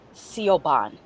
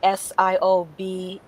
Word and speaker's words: Siobhan: on the mailbox it looked like it said seal Bond like s-i-o-b-h-a-n I think and she said no it's pronounced Siobhan oh I was also a Gaelic name yeah